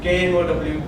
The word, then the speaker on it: know: No and K-N-O-W are different. Then she asked another questions. Before that, I explained also that in the word K-N-O-W, the word K is silent.